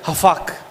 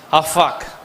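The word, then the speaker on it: הפך: மாற பண்ணினீர் என்ற வார்த்தை, யூ ஹவ் டர்ன்ட், அந்த திருப்பு மாற்றினார் என்ற வார்த்தை எபிரேயத்தில் ஹஃபாக். எல்லாம் சொல்லுங்க, ஹஃபாக். என்ன உச்சரிக்கிறீங்க? பரவாயில்ல, சொல்லுங்க பார்க்கலாம். ஹஃபாக் எபிரேயத்தில் சொல்லப்பட்டிருக்கு.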